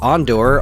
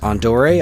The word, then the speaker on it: Andor: And then I'm like, all right, there's Andor, although apparently that's pronounced Andore.